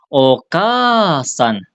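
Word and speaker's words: お母さん: Ini dibacanya bukan o a san bukan bukan oka asan bukan okasan tapi dipanjangin k-nya okasan okasan begitu minasan ya cara panjanginnya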